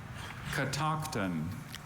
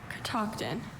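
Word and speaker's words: Catoctin: Katton.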